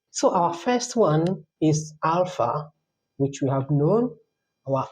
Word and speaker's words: alpha: So this is not ala this is alpha.